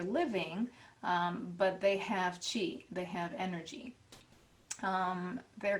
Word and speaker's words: qi: word for energy and it's spelled q-i but it's really pronounced c-h-i chi and energy in the